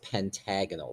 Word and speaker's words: pentagonal: Okay, the word pentagon with AL at the end, and again, that's pronounced pentagonal.